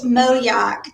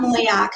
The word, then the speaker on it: Moyock: from moyak Mo Yak if you're from here it's Moyock not Moyock because then you'll get in trouble but um when I